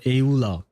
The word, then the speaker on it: Eula: I'm just sad for Eula, because that's how he pronounces it, which is kind of strange. I know it's just the Japanese way of pronouncing it, but, I've never been accustomed to hearing it.